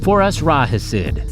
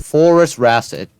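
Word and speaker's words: Phorusrhacid: For us, Rahid. Forest Rasid. don't need the aha into insert into it.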